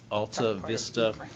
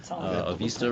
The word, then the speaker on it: Avista: The next is Ibero-American Development Corp's Alta Vista, Avista rather, if you want to pronounce it correctly, at St.